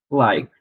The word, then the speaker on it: like: Like é gostar, também entra no sumiço do E, a última letra antes dele é o capa.